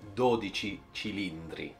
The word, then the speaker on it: 12Cilindri: So I mispronounced the name of any car, and this is the first car I can help you with the pronunciation. It's Ferrari 12Cilindri.